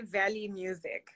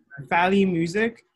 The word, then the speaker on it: Valley Music: you say your name i just say valley music valley music like mountains yeah who is